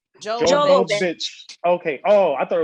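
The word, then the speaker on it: Milla Jovovich: is Mila Jovovich. Jovovich. Okay. Oh, I thought it was Joe Lovich.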